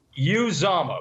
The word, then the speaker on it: Uzomah: know first of all i'm glad you pronounced uzama correctly because so many people screw that up it's you zama but good good job